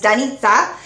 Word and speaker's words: Danica: been here before but my name is danica and it is Slovak and Croatian pronunciation is donnita and that's that's been